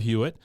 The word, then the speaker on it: Hewitt: a couple other shows Jennifer Love huitt uh guess I need to say her name right Jennifer Love hwit who uh was credit